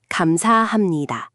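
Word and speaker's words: 감사합니다: Kamsahamnida. Kamsahamnida. This is your go-to for strangers, service workers, professional settings. Kam sa ham ni da. Five syllables. Try it.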